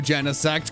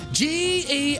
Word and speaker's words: Genesect: and you're out and you're on strike two genesect come on i'll take it i could remember